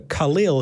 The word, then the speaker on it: Khalil: Yeah, let's talk to Khalil, who is our first caller, been waiting on the line the longest. Is it Khalil? Is that how we pronounce it? Yes, it's Khalil, yeah.